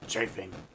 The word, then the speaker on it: chafing: It saves you from uncomfortable chaffing. That's right. Chafing. Chaffing. Chaffing. Whatever. I pronounce it chaffing. That's how my dad pronounced it. That's how my grandfather pronounced it.